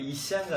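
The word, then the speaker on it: عيسى: 이샤라고 그래가지고, 예, 걔네는 예수님 발음이 그 아랍식으로 하면 이샤인가 해요.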